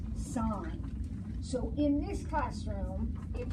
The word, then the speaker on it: sine: the equation for the sine curve is SI NX now I know when you look at that you think sin but that is pronounced sine so in this classroom